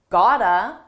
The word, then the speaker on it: gotta: I said you gotta kick it up a notch. First, notice how I used gotta. This is a reduction. It's a combination of the words got to, and it's pronounced as one.